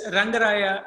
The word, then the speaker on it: Rangaraya: It's Rangaraya Medical College.